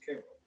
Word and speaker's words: Cairo: Early settlers at the junction saw it as their version of the Nile Delta, so they called it Cairo, which have been told locals pronounce as Cairo.